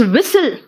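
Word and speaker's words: whistle: देते हो जरा देखो टी साइलेंट है कहां-कहां इट्स विसल विसल है विस्टल नहीं है बेटा देखो विसल है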